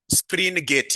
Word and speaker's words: Springate: Can you kindly pronounce this for me? Springgate. Yes. Not spring. Springgate model.